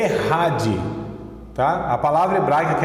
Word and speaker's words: Echad: Ouve Israel, o Senhor nosso Deus é o Errad, Errad, E-C-H-A-D, essa é a palavra, Errad, né? Ou se fosse pronunciar aqui no português, Echad, Echad, E-C-H-A-D, de mudo, Echad, tá? Mas a pronúncia é Errad.